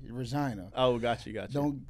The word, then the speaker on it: Regina: yeah above North so it's spelled Regina but they say Regina oh got you got